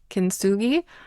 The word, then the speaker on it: kintsugi: So going back to the idea of failures, I love Richard Rudd points out I think it's pronounced kintsugi, that Japanese art of when they break a